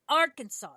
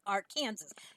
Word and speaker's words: Arkansas: mispronounce a state name it is Arkansas now I need to make sure my husband knows that this is a law because he always wants to call it Aransas it is not Aransas